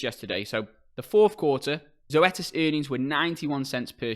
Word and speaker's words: Zoetis: this actual name here i mean it's actually pronounced zoetis and i was a bit confused by this